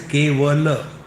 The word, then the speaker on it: Kevala: The word is Kevala. The talks used to come on cable network. So my friend from Bengal, they used to call me Swami. Va is pronounced as ba in Bengali.